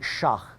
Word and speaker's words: sheikh: Now, they have holy orders, they have religious professionals, sheikhs, they pronounce it shah, and that's going to become important to us.